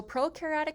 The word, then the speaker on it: prokaryotic: So prokaryotic cells, pro rhymes with no, but pro actually means like before the nucleus.